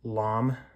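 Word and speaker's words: lame: but I do recommend getting a LOM they're not super expensive it's spelled l a m e find them on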